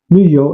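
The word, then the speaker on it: 旅游: This time the yo is on the second syllable, lü-yo, and it means to travel.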